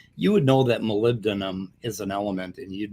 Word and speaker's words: molybdenum: college would know that it's not malabednam and he does it shamelessly twice now maybe i don't know my son says well you know maybe he has trouble pronouncing words but you know i don't know it's just me but but if you've taken a chemistry course you know it's molybdenum it's not it's not